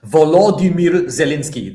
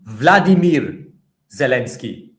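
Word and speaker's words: Volodymyr Zelenskyy: Um Vlad uh Volimeir Zalinski. That is his name in Ukrainian because he's Ukrainian, right? However, do you know what they call Vimeir Zalinski in Russia? They call him Vladimir Zalinski.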